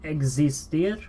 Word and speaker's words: existir: So X is that funny character that is actually like the KS sound combined.